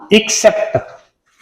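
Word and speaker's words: except: दूसरा होता है इससे मिलता जुलता एक, ये आता है एक्सेप्ट। इसको प्रोनाउंस करते हैं तो छोटी ई के साथ, एक्सेप्ट। इसका अर्थ होता है हिंदी में के सिवाय, या नॉर्मली बोल देते हैं अलावा।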